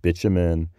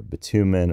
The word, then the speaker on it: bitumen: it, we use the word, either you might pronounce it bitumen or bitumen or even bitumen, and that, depending on where